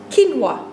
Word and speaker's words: quinoa: Je zegt namelijk niet quinoa of quinoa, maar je zegt gewoon quinoa. Met de nadruk op het eerste stukje kin.